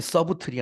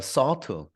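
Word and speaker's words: subtle: 되는 세대인데도 이거 못해요 이거 b가 묵음입니다 여러분 발음이 서브틀이 아니라 서드 서우트라는 거예요 서드 differences 미묘한이라는 뜻이죠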